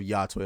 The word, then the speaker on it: Yotei: It's Ghost of Yotei. That's how I'm going to pronounce it.